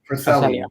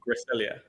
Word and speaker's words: Cresselia: Um I forgot how to pronounce the psychic type on fails team. Cresselia. Cresselia.